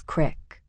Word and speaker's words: creek: My father will fish the Yaak a few times, but he prefers Dunbar Creek, which we pronounce crick.